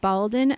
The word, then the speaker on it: Baldin: Uh, if you ever want to visit me, talk to a guy named Baldin, rhymes with Zalden, and ask about me.